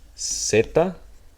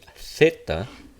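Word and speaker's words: zeta: And in the case of Z, we have two pronunciations. we have setta or we have seed. Now if you want to imitate the peninsula dialect this would be theta and this would be theta right. So setta theta theta.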